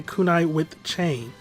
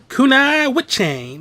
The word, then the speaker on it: Kunai with Chain: joey wheeler from yu-gi-oh i hate how he would always pronounce kunai with chang and now i activate kunai wit chain like no just say kunai with chain kunai with chain not kunai what chain like just one random